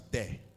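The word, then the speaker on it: δέ: The Greek word for the word no is pronounced as de.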